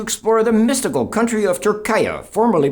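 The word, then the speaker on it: Türkiye: we're going to explore the mystical country of turkaya formerly pronounced turkey last year the Turkish government asked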